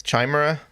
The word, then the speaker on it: chimera: a sandwich or something oh you don't pronounce the ch is this so it's